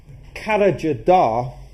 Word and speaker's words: Karacadağ: But more importantly, this is where the revolution began, because at a place called Karacadağ, and that's not the way that it's spelt, but that's the way that it's actually pronounced, which is a mountain